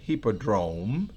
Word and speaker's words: Hippodrome: Coloco la pronunciación al lado porque no es una palabra muy común, así que esa es la pronunciación, Hippodrome, to witness the outcome of the audacious challenge which Houdini had accepted.